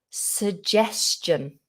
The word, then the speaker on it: suggestion: So we have a schwa in the position of the first vowel. So we don't say so or su, it's just s.